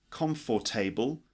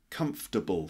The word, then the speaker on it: comfortable: 19 the word comfortable it's not calm for table just comfortable three syllables are you comfortable would